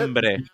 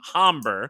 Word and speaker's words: hombre: Hombre. Hombre, hombre, which means man in Spanish. The rule is the H is silent and not hombre.